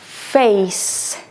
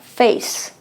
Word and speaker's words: face: un sonido porque es una e muda la es silenciosa Face miren que está ella al final no se lee no se dice nie ni nada se queda acá Face Care aquí camura la